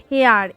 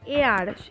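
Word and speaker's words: heir: হেয়ার, এইচ ই আই আর, এটা হয় হেয়ার কিন্তু আমরা উচ্চারণ কি করি, এয়ার, এয়ার, উচ্চারণটা হয় এয়ার এরকম, সেই জন্য তার আগে কি বসে, অ্যান।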